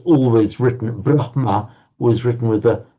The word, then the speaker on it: Brahma: For example, the word Brahma is written and is actually written in Devanagari and Sanskrit as well with a H-ma, Brahma. But you often find people pronouncing the other way around, Brahma.